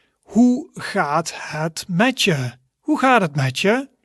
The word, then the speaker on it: hoe gaat het met je: Hoe gaat het met je? So there is a bit of stress on the je part, which means you.